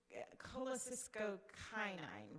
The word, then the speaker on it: cholecystokinin: He said CCYK, cholecystokinin, released only when eating fat-containing foods.